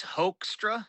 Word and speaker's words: Hoekstra: Oh, it's It's Hoekstra, like Hoekstra.